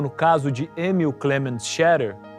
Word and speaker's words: Scherrer: Para muitos, assim como no caso de Emil Clement Scherer, ou Scherrer, como era a pronúncia correta, a reintegração da Alsácia como território alemão foi um sonho que durou pouco.